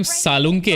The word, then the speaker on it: सालुंके: तेरा last name सालुंके है ना?